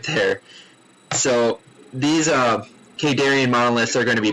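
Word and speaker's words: Khaydarin: cannons, shield batteries, and Kadarin monoliths. Yes, I looked up the name. I'm almost positive, pretty darn positive, 99% sure that's how you pronounce it.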